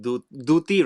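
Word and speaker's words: Dutee: So about, I don't know how to pronounce her name, Duti, right?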